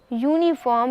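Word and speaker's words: uniform: का दिया गया है यूनिफॉर्म का उच्चारण यूनिफॉर्म यानी Y double O एन आई एफ ओ आर एम की तरह किया जाता है क्योंकि उच्चारण वाई यू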